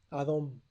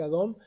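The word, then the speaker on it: אדום: le llamó que don saben cómo se dice rojo en hebreo a ver nestlé a don rojo enebro se dice a don de sap se le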